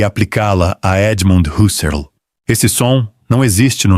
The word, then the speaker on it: Husserl: e aplicá-la a Edmund Husserl. Esse som não existe no nome dele. Escreve-se com U simples e pronuncia-se com U simples, algo como Serl, com